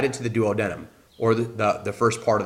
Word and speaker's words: duodenum: The stomach, as it shoots the chyme into the first part of the small intestine, this is called the duodenum, or duodenum, as some pronounce it.